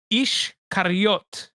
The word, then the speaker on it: Iscariot: Ishkariot is how you say Iscariot in Hebrew.